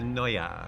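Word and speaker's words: Neue: now okay I'm going to usea NOA that's how you pronounce it so what I will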